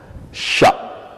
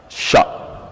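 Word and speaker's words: ش: lettre de l'alphabet, mais avec la combinaison CH quand même en français, on peut avoir le son ch qui peut correspondre à celle-ci. Donc, cha, cha.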